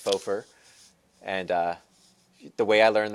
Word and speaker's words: faux fur: I thought it was fox fur, but I guess it's faux fur.